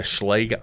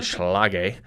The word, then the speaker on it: Schlage: So we use the Schlage code, and I don't think I pronounced that right. I think it is actually Schlage, if I am pronouncing it correctly.